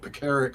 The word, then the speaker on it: Pekaric: Yeah, for a guy with a name of an Eastern European name of Pekaric, where the second syllable is emphasized, I still do the